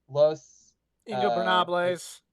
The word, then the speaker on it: Los Ingobernables: Los Ingobernables.